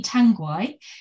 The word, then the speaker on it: Tanguay: I'm here speaking to Tanguay, who is, I hope I pronounced your surname right, by the way.